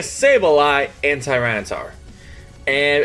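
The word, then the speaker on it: Sableye: a mega s wow i always say mega syllable what's wrong with me mega sable eye and tyranitar and it's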